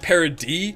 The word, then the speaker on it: Paradis: it says I know it says Paradise or it's spelled that way but it's like parody so we're on parody